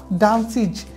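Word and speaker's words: dances: অনুরূপভাবে এখানে হবে ডান্স, দন্তস্য পেয়েছি সেক্ষেত্রে আমরা এস যোগ দেওয়ার কারণে এই উচ্চারণটি হবে ডান্সিজ, এখানে হবে चेंज তাহলে এস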